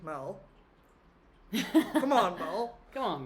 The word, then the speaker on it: Mel: they do and the people always say my name weird like Mal yeah it's weird yeah M you know that M everybody does like am I milk like no it's Mel um always desperate too